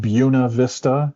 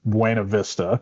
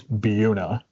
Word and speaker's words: Buena Vista: And everybody in their region, I think, has places on the map that are not pronounced the way that they look and that the rest of the world might think they are spelled or pronounced.